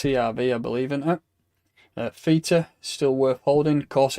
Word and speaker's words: Theta: If we look at Theta, I'm calling it Theta today. I usually call it Feta like a Yorkshireman, but I'll pronounce it properly.